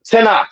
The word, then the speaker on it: Tanakh: So Tanakh is how that's pronounced.